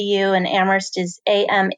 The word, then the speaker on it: Amherst: mercy D you and Amherst is am h er St the H is silent that's a little fun